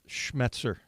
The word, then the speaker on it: Schmetzer: kind of helped to turn things around that's schmetzer Jim yes that's how you pronounce that I notic we got it one